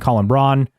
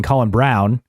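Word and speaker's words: Colin Braun: on top ELO cast NIS Tom Blomquist and Colin Brun or excuse me Colin Brown even though it looks like Brun it's pronounced Brown always throws me off they won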